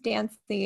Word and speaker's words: Dancy: I call mine the fancy bot because my last name's Dancy. It rhymes with fancy, so why Yes.